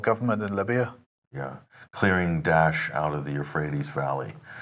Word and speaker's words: Daesh: There's Daesh, which is more accurate. That's the Arabic one. Then there's, I think, David Cameron, Dash, and then there's Dash, and then there's Obama, which is Dash.